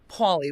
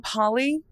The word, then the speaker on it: Pauly: You say Pauly weird. Pauly? You saying Polly?